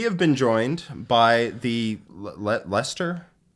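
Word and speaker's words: Leicester: been joined by the Lester Lester GT winner yeah I don't know how many silent letters in there which makes me think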